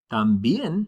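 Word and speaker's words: también: Tambian with that accent on the e.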